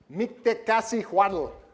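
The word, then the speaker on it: Mictecacihuatl: I had to write it out phonetically. Mictlanticutli is the husband, handsome husband on the left. Mictecasihuatl on the right.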